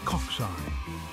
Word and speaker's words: cocci: First up, we have the spherical culci, pronounced cocci.